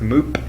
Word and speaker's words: Moop: know who i am my name is moop not meep like coke pronounced yesterday because he's a or something uh and not mook can people stop asking